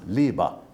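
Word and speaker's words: Liebe: In this western European country's language, it's pronounced liba.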